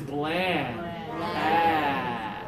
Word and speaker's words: bland: right here okay long this one takes two fingers everybody please put up two fingers touch here it's still from the back but from the sides haha Blaine this food is bland okay if you say